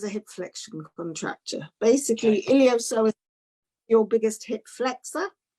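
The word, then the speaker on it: iliopsoas: It looks like it's LLIOPSOAS. LLOPISAS. No, SOAS. Iliosoas. It's iliosoas.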